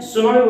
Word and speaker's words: tsunami: इन शब्दों को आप देखो, जैसे आपके सामने शब्द लिखा हुआ है सुनामी, इसको अपन बोलते क्या है, सुनामी बोलते हैं, लेकिन ऐसे स्पेलिंग इसको देखें तो स्पेलिंग इसकी टी से स्टार्ट हो रही है, TSUNAMI।